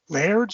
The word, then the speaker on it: Laird: Tundra was Peter Laird's. Is that how you pronounce his name?